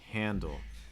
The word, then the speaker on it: handle: this first word here handle handle that an is the key part handle so it's not handle it's not handle it's handle give the Val enough time to breathe let it really make